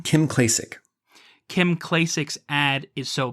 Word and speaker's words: Kim Klacik: Kim Klacik.